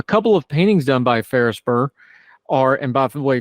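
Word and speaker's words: Ferrisburgh: well done a couple of paintings done by ferrisburg are and by the way ferrisburg is spelled f e r r i s b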